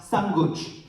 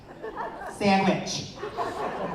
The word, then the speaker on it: sandwich: It wasn't until I was 8 years old that I realized that thing we ate at lunch wasn't pronounced samguch. Samguch. Sandwich.